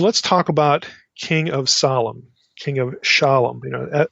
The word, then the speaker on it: Salem: or I'm going to try not to say Salem since that's such an anglicized pronunciation here, but Salem.